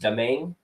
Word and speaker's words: Domingue: It's pronounced Domingue.